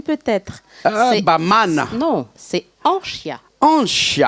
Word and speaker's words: Anchya: Non, c'est Anchia. Anchia. Il n'y a pas besoin de prononcer le N. Anchia. C'est Anchia. Ah ouais, c'est du Shimaoré. C'est un prénom Shimaoré. Ouais. Quand on dit Anishia, c'est quelque chose qui me dépasse.